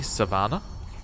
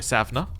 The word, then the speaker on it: Savna: Child of my dynasty, Savannah. Or, sorry, Savna. Added an extra syllable in there.